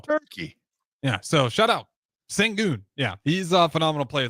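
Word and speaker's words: Şengün: Sengun.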